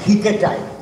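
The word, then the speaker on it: ἱκέται: Karon there is a stress. So that's why it will be pronounced as haketai.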